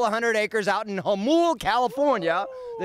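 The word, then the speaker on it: Jamul: Literally bought the farm, and it's a couple of 100 acres out in Hamul, California. Woo! The J is silent south of the 8.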